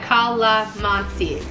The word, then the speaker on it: Calamansi: Now, as far as the Calamansi drink goes, pronounced like Calamansi.